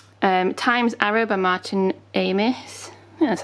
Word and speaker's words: Amis: do really like um times arrow by martin amis that's how you say his name and about